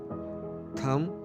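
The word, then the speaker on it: thumb: Parting मांग, parting मांग, थंब, अंगूठा। फ्रेंड्स, इसमें बी की आवाज़ साइलेंट है।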